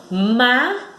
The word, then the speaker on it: mágico: Na palavra mágico, olha só, mágico. Então, a sílaba mais forte, ela dá um impulso, ela sobe. Então, mágico. Então, má é a sílaba tônica.